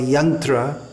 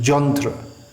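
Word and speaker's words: यन्त्र: Srila Prabhupada would say Jantrarud, because in Bengali yantra, machine, is pronounced jantra. Yatra, pilgrimage, is pronounced jatra, and so on.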